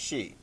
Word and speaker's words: Xi: top most important leader is she exi is pronounced she and he's been the top leader of china